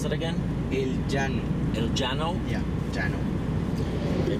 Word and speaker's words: El Llano: How do you pronounce that again? El Llano.